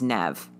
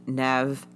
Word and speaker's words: Neve: sister her older sister whose name we assume is nev like never campbell yeah um because it's spelled n-e-v-e so um at any